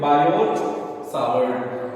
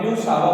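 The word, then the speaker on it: Biot–Savart: एक साइंटिस्ट थे, तो बायोट सावर्ट। लेकिन अगर इसे रशियन थे तो ये रशियन भाषा में ब्यूसावा बोलते हैं, ब्यूसावा, उसमें टी साइलेंट होता है रशिया में, तो ब्यूसावा।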